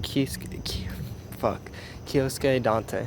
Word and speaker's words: Kyosuke Date: But right now, I like to talk about the main character called Kyosuke Dante.